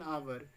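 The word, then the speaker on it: hour: University या फिर एन आवर, यहाँ द एच एट the beginning of आवर is silent. यहाँ आपका एच साइलेंट है आवर में, यहाँ पर भी आपका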